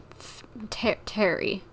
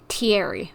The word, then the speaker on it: Thierry: So, Terry? That's how you pronounce the name, I'm guessing. Hey, Thierry, it's me. Thierry, okay.